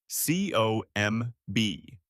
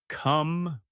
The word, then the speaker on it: comb: C O M B. The B is silent. You say come. Wait, not the word come. The sound is comb.